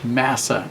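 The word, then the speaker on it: משא: word used to signify burden in Hebrew is Massa m a SSA we would pronounce it and it has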